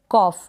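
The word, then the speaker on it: cough: ऑ next है ये कॉफ इसको आपने पढ़ा कॉफ यानी ओ और यू जो है इसको आपने ओ के रूप में पढ़ा और जीएच का जो उच्चारण है फ प्रोनाउंस हो रहा है यहां पर जीएच तो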